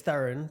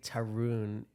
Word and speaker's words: Tarun: It's Tarun, but I say Tarun because I grew up in New Hampshire. Because nobody can. It's not spelled phonetically Tarun. But if I say Tarun on this thing, Indians would be like, "Dude, what is this guy doing?"